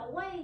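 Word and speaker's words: 为: Vương Phương tuổi này chúng ta đọc là way nhá chứ không đọc là Quẩy tại vì từ này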